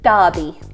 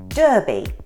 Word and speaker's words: Derby: And if we call something a derby, it's always pronounced A with an A sound and never with an E sound.